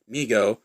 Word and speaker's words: Mego: response to overwhelming demand migo pronounced amigo corp has started was started by his father david abrams in 1954 and named by his younger brother howard who would say me go to howard later became